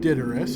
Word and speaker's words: Daedalus: If we should have, do you any favorites of Master Daedalus? Daedalus? Did I get that right? She would pronounce it correctly, I think. She said Daedalus, yep.